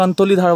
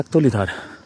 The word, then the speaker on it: একতলি ধার: যেরকম ওটা কিছু অ্যাকচুয়ালি একতলি ধার, অনেকে অন্তলি ধার বলে, অবতলি ধার বলে, যে যেরকমভাবে এক উচ্চারণটা করে, অ্যাকচুয়ালি হচ্ছে একতলি ধার।